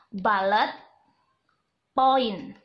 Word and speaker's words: bullet point: balap point coba ditirukan balet point ya tulisannya Bullet point bacanya balet point kita akan membuat balet